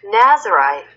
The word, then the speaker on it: Nazirite: 발음은 Nazirite, Israelite. 발음이 그 뒤에가 right로 끝나네요. Israelite, Nazirite, Nazirite.